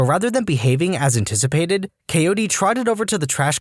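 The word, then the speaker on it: KOD: Coyote, my mother called. The dog's name was K-O-D, though we pronounced every letter.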